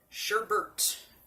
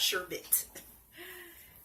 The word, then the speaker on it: sherbet: So yeah, the soap is called sherbet, not sherbet, because I like that name better. Somewhere along the lines, people started saying the name wrong, and it just stuck for most people, or some people.